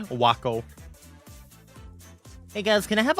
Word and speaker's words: Waco: of smuggling guns no it's like it's like taco but W that's how it's spelled Waco hey guys can I